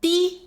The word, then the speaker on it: 的: “的”有四个读音的 (de) has four pronunciations: de, dí, dì, and dī.